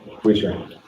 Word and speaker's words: Weichert: If you leave Remax and go to Weichert, guess what? That listing is still a Remax listing. Okay? Or Weisher? Yeah. Weisher, not Weichert. Sorry, I always spell it wrong.